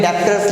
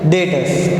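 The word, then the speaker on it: debtors: ये पढ़ने में डेप्टर्स लगता है, पर हम बोलेंगे कैसे, प्रोनाउंस कैसे करेंगे? डेटर्स।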